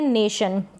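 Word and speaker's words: question: help से आप इजीलि इनको पढ़ पाएं फर्स्ट स्पेलिंग है क्वेश्चन क्या है लास्ट में टी आई ओ एन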